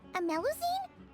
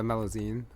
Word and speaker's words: Melusine: Wait, a meline. That's the deal for me village traveler. Pon, fancy seeing you here. Yeah, sorry I said the name wrong. The melazine.